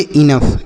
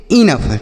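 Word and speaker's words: enough: तो इसे पढ़ेंगे इनफ। क्या पढ़ेंगे? इनफ।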